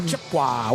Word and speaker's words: Chippewa: Chipua.